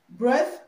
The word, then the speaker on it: breath: Now, this word is breath. Breath, okay, and is a noun. So the TH here is pronounced the voiceless one, and this one here is pronounced z, okay, it's pronounced z, okay.